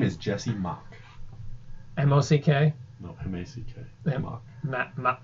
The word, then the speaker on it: Mach: There you go, that's Mock. Mock. Yeah. I don't know the word Mac. M-A-C-H. Mock. Jesse Mock. Underlining. Sorry. Circling. And a triple. Oh my god. Asterisk after Mock. Do not mispronounce.